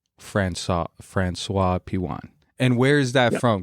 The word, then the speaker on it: François-Pijuan: your last name how is your last name pronounced uh franois pan Fran franois Pian and where is that from because that's that's